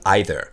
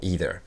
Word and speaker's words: either: La manière dont on dit non plus, très intéressant, on dit either. C'est un mot qui a cette prononciation américaine. On peut dire either, c'est plus conservateur. La plupart des Américains diront either.